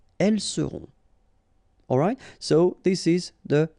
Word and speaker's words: elles seront: the end, et serez, ils seront, final T not pronounced, elles seront.